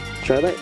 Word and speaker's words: Charlotte: Charlotte? You got it right. Alright, thank you. I wasn't sure if I was pronouncing her name correct.